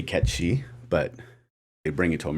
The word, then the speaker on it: Cait Sith: His name is actually supposed to be pronounced Ketshi.